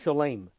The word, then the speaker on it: shalom: some of the seders he would pronounce the o as if it were a and that's what lobsters do in other words instead of shalom they pronounce shalem that's the laboris way of pronouncing it and that that